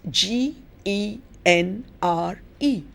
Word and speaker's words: genre: you know the word genre may be a little difficult in pronunciation but you spell it as g e n r e pronounced genre because it's a french word and somehow in the